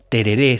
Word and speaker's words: tereré: jesuítica adaptada al guaraní lo que explica el acento en la última sílaba en latín tereré sin acento o terere